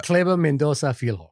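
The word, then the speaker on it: Kleber Mendonça Filho: Uh I can I'm I'm going to totally butcher the director's name. Can you say it correctly, Shar? Clever Mendoza Filho.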